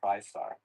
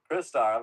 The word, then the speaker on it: Crystar: I always thought it was TriStar. yeah. Yeah. So Crystar, I'm changing my pronunciation from now on.